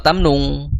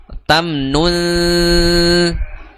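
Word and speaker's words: تَمْنُن: Jadi bacanya wala tamnun, bukan wala tamnu, bukan wala tamnung, bukan tamnung, tapi tamnun tastakthir seperti itu. Tastakthir tamnun ya, tamnun bukan tamnung seperti itu.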